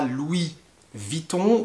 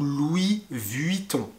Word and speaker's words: Louis Vuitton: comme louis vitton alors louis vuitton on va souvent le prononcé en france comme louis vitton louis vitton qui entendra louis vitton ou louis vuitton les deux sont corrects par contre attention luis